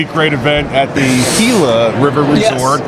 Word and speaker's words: Gila: great event at the Gila River Resort I keep saying gilas is spelled g-i-l-a but it's Gila I'm from Brooklyn I